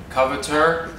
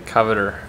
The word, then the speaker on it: Coveteur: How do you properly pronounce it? Coveteur? Yeah. Coveteur. And how do Americans say it? The coveter.